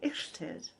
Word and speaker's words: Illtyd: saints and today we are looking at saint ixted now it's pronounced like that because as you know a